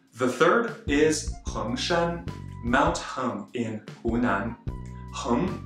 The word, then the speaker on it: 恒山: Now moving on to the fourth mountain, Hengshan, Mount Heng in Shanxi. Yes, that's right, another Mount Heng, with a second tone as well, but with a different character.